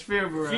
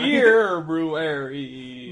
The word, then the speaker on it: February: You're pronouncing it wrong, it's February. February.